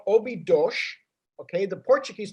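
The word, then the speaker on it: Óbidos: we live outside a little town it's called obi dosh okay the portuguese pronounce it obi douche uh it's a 800 year old castle town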